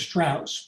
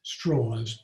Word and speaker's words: Strauss: ugly picture of Strauss, whose name was Strauss, but he insisted on pronouncing it Strauss.